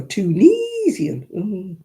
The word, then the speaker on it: Tunisia: The only one thing that sets my teeth on end is Tunisian. Oh, that sets my teeth on end. It's Tunisia. It's got an I in it, not an E.